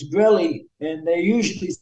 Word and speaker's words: Grelle: be like g r l l e e gy gy nice I'm glad we can finally put